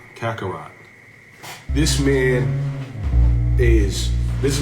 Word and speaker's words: Kakarot: This man, I said his name wrong, too. King Kako Kakarat. Kakarot.